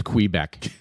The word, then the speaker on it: Quebec: It's Quebec.